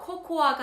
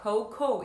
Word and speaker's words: cocoa: 발음은요, 코코아가 아니라 cocoa 이렇게 읽어주시면 되겠습니다.